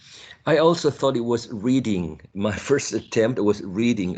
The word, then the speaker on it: Reading: last one of this section how do you pronounce this town reading all right any other option here we go it's reading reading and reading festival was the first festival